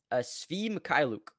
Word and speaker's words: Svi Mykhailiuk: I don't have a lot of how do you pronounce his name? Svi Mykhailiuk.